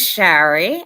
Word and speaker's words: Shari: It is Shari. I always say it rhymes with Larry.